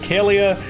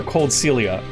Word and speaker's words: Coldcaelia: house that cold seal is it called calia or cold celia cold kelly is probably the correct pronunciation um in that instance